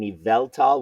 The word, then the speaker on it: Yveltal: I can't say the word but it's an eveltal we'll talk about some error cards that'll be